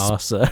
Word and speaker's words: Asa: It's Arsa. it's spelled ASA.